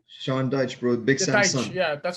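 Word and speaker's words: Sean Dyche: well uh their manager sean dykes his name shawn deutsch bro big sense yeah that's how you pronounce it yeah exactly his son uh perfectly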